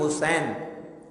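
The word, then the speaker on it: حصین: ہیں حضرت عمران بن حسین۔ یہ حسین سواد کے ساتھ ہے، سین کے ساتھ نہیں ہے، اور بعض جگہ اس کا حسین بھی تلفظ آتا ہے۔ حضرت عمران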